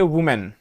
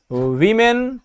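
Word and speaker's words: women: अंग्रेजी में बोलना हो तो हम उसे बोलते हैं विमेन ना की वुमेन ये वुमेन कर देते हैं लोग ये गलत होता है उसका रायचेंस हो जाता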